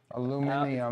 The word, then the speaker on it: aluminium: Aluminium. Aluminium. Aluminium. Aluminium. Say it with me. Aluminium. We use the metric system and we pronounce aluminium, aluminium.